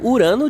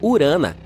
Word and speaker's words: Urano: Bem, bem, estamos chamando Urano de forma errada todo esse tempo. Os astrônomos dizem que deveríamos pronunciá-lo como urana.